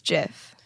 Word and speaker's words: GIF: It's Graphic Interchange Format, so it's a hard G in there.